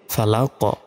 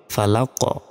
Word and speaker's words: فلق: দিয়ে উচ্চারণ করি তো কফের উপর যদি সাকিন দিয়ে উচ্চারণ করি তখন আমাদের ধাক্কা দিয়ে পড়তে হবে উচ্চারণটা হবে ফালাক ফালাক কউজুবি রব্বিল ফালাক